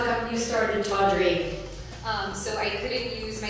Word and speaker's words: Taudrey: Funny enough, it started as T period Audrey was how the original logo was. And just over the years, people just started pronouncing it Taudrey instead of T Audrey. So we dropped the period and merged the two together.